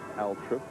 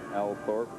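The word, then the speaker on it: Althorp: mary the virgin church at altrip some say or al thorpe some locals say a connection for us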